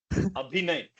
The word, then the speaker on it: अभिनय: सर मेरा नहीं है, 1% अभिनय है सर।